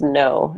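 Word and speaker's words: Ngo: N as in Nancy, G-O, and it's pronounced no.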